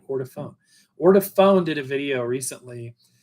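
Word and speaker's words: Ortofon: Ortophone.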